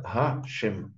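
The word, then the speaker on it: השם: Оно не читается, как написано, да? Мы читаем его как гашем.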